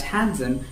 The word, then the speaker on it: handsome: In that handsome, you don't have to pronounce a D.